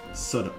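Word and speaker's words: Southwark: yeah southw becomes guys guess safak becomes sodok sodok don't ask me guys don't ask me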